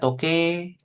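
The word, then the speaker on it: とけい: Pakai i belakangnya. Tapi kalau dibaca, kita lafalkan seperti itu ya. Dia bacanya toke gitu ya, seperti itu ya. Toke. Jadi i-nya nggak ada, nggak kebaca.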